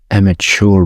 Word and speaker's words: amateur: Oh, there is no ch. I think it's American, they saying ch.